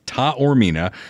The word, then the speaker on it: Taormina: you know because uh he even phonetically spelled it out for me it's Dr Mark Taormina Midwest GI Health in